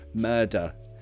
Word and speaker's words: murder: Pronunciation, murder. That has a schwa sound at the end of it, right?